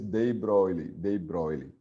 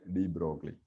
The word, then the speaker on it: de Broglie: So actual pronunciation is de Broglie, but people used to say de Broglie, right?